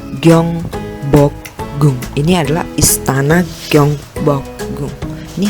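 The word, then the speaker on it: 경복궁: Sementara yang warna hijau, gioknya itu di awal, yang warna kuning juga, maka berbunyinya seperti huruf G, maka dibaca Gyeongbokgung.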